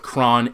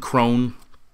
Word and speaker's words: Kron: Now, I've heard it pronounced both Kron and Kron. I'm going to go with Kron.